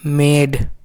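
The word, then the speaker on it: made: तो एम का क्या होगा, आधा माँ होगा, और ए का ए होता है, आधा मतलब डा का डी होता है, और ई तो साइलेंट है, इसका कोई साउंड नहीं है। तो क्या हो गया आपका मेड।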